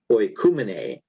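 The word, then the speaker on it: οἰκουμένη: And the fourth word is that one, which is pronounced oikumene, and it is, I think, world as a political identity.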